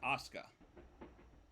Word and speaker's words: Asuka: wrestler that's a su it's not asuk it's Asuka there female so it could